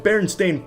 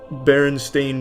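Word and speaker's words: Berenstain: I wouldn't have these memories of me feeling very stupid by saying Stain when it was Steen. Just it's a complicated situation. And Baron Stain sucks as a name.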